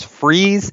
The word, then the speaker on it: Fries: was in huge letters freeze entertainment spelled like fries are yes huge letters on